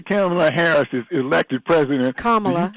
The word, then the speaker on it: Kamala: So after Kamala Harris is elected president, Kamala rhymes with Mamala.